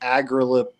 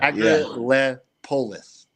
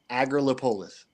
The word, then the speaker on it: Agrilepolis: Like Grid, he's like Agrilepis. Yeah, earlier today I had him. I was like, well, how do you say I was that? like, it's not piss at the end, man. It's Yeah. Agrilepolis. Agrilepolis.